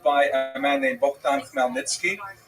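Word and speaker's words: Khmelnytsky: a man named Bhan Melnitzki. You may have seen his name in the literature spelled with a ch. That's a Polish spelling, Chino Nikki, but it's pronounced Melnitzki.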